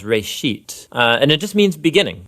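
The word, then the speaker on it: רֵאשִׁית: a Hebrew word uh it's pronounced Ray sheet and it just means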